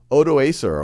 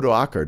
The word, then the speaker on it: Odoacer: Roman Empire, is when the Germanic ruler General Odoacer, or Odoacker depending on how you pronounce it, is able to oust the emperor